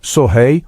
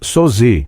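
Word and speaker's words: Söze: Alguns diziam sori, outros sozi.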